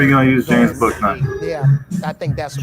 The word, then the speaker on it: Bouknight: And I know how it's spelled, but it's Bouknight.